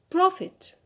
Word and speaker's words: profit: Profit. Profit. So here the stress is on the first syllable, on pro.